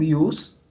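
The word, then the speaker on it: ius: palavra e os tá é o Jota que se pronuncia com o som de ir por isso que às vezes vocês encontram escrito e os e às vezes juntos no latim então o IOS é a palavra utilizada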